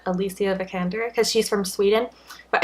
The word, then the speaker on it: Alicia Vikander: high transfer name like I originally thought you pronounce it Alicia vikander but I saw something where she pronounced it and I think she said Alicia vikander cuz she's from Sweden